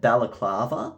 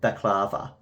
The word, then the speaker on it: baklava: Dinah usually calls it balaclava. I believe you pronounce it baklava.